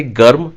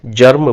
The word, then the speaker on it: germ: जर्म की spelling है GERM। देखिए, मैं इसे गर्म नहीं पढ़ रहा, ना मैं इसे गर्म बोल रहा हूँ, इसे मैं जर्म बोल रहा हूँ।